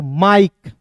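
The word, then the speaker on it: Mike: का म होता है और आई के इ अंतिम में दिखेगा तो इसका उच्चारण आई के के रूप में करेंगे तो क्या हो जाएगा दोस्तों दोस्तों माइक एल का ल आई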